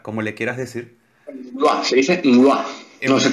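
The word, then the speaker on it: Mgła: En Mua. Se dice Mua. Mua. Mua. Mua. La L esa tachada se pronuncia como una L. L. Y se dice Mua en polaco.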